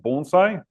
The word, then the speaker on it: bonsai: it's it's pronounced and you can think of it as b o n e phonetically and then si gh